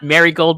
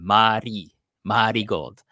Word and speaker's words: Marigold: about mty gold but so it's not marry Gold by the way people you got to say it with like the kind of like the karakana pronunciation Mari Mari gold maybe because I knew